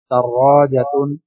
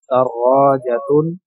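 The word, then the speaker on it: دراجة: দাররাজাতুন একটি সাইকেল, দাল র আলিফ জিম তা, দাররাজাতুন একটি সাইকেল। জি, শব্দগুলো উচ্চারণ আমি আবারও বলছি, যাদের উচ্চারণগুলো ভালো করে শুনেন না, মনোযোগ দিয়ে শুনবেন।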